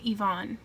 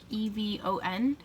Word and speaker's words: Yvonne: I pronounce my name Yvonne. Yvonne. It's spelled Yvonne, but I pronounce it more like Evon.